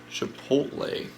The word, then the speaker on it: Chipotle: i got some chipotle i always say it wrong but you know i have to think about it when i say it for some reason i like to say the l before the t i don't know if